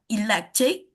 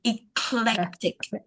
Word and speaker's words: eclectic: There was the word electric. The way to pronounce it is eclectic. Not electric. Eclectic is the right way to pronounce that word.